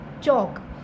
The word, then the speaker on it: chalk: फ की साउंड नहीं आती, फे की साउंड नहीं आती, बल्कि OV ऑफ का CHALK चौक। इसमें जो L है ये साइलेंट है, तो L की साउंड नहीं आएगी। CHALK चौक मीन चाक।